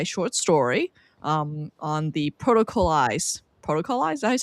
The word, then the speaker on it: Protocolized: his new sci-fi short story um on the protocolized Protocol.